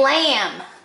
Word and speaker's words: lamb: right straight line down this is a lamb and here are your silent letters at the end of the word so then you can